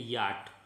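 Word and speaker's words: yacht: इसमें आप 4 ना पढ़ें, इसका प्रोनाउंसिएशन है याट, ध्यान रखें।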